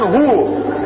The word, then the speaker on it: hu: en küçük ismi nedir hu okunurken hu okunur yazılırken hüve yazılır hüve okunurken hu O halde şimdi Söyleyin